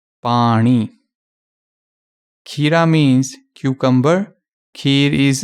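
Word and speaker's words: ਪਾਣੀ: okay this is wrong this is the correct pronunciation pani kira means cucumber here is actually a swedish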